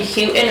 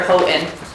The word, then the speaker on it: Hoen: Is the last name Hen or Hoen?